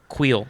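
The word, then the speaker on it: Kuiil: it is queen the queen of quills no queel k-u-i-i-l yeah two eyes oh wheel yeah so handle's pronouncing it wrong or am i just listening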